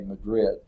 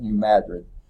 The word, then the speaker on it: New Madrid: occurred not in California but in a region of New Madrid I think is how they pronounce that if they were Spanish they say Madrid but I'm pretty sure they call it New Madrid Missouri in 1811 that quake